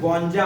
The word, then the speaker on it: गौंजा: कानो, दो मात्रा है और उसके ऊपर डॉट रखा है, तो हमें न का उच्चारण करना है, गौंजा हम बोलेंगे।